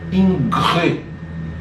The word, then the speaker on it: Ingres: Então a gente tem obras de dois artistas principais, né, Jacques-Louis David e Jean-Auguste Dominique Ingres. Se escreve inglês, mas se pronuncia Ingres, certo?